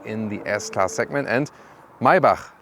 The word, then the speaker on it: Maybach: the s-class segment and mybach listen and repeat my bach not my buck because the germans they have this ch as so and the ultimate german pronunciation would be mercedes mybach that's it so now